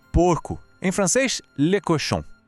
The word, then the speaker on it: cochon: Em francês, le cochon. Assim como em chien, lembra? O segredo está no som nasal final em chon.